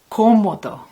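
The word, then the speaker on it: cómodo: it's very comfortable and the word for comfortable is komodo with the stress on the first core because there's an accent on the oh okay so our apartment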